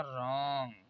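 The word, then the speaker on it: wrong: जैसे देखिए आर से पहले डब्लू आया है यहाँ पर, तो ये डब्लू कॉमन हो जाएगा, इसे पढ़ा जाएगा रॉन्ग।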